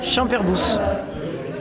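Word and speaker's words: Champerboux: Airbus donc champ herbus donc on pr pronc le S donc on dit champerbous champerbou qui disent moi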